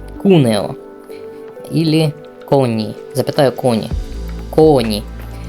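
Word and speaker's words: Cuneo: он вот на уре ударение падает на букву у кунео или кони запитаю кони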